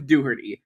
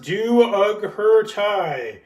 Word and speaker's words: Dougherty: channels who makes Cinema Sense response videos, Luke Dooherty. Oh, come on. You mispronounced Luke's last name again. It's pronounced Do Uggert Thai.